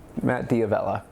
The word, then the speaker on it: Matt D'Avella: Matt D'Avella, that's how you pronounce it.